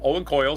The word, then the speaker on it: Owen Coyle: as former Celtic midfielder Ddier Agathi was cast as the Rangers player and Owen Kofi Kohley Coyle Owen Coyle sorry for all you footballers out there for mispronouncing your players names who played for several